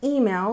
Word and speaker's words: email: And here we have email with stress on the first syllable, email, email.